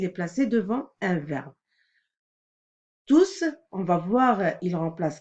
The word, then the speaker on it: tous: hiver terminé leur travail on a remarqué que le s se prononce quand il s'agit d'un pronom alors le prononcer un mot qui remplace un groupe nominal ou un an il est toujours placé devant un vin tous veulent terminer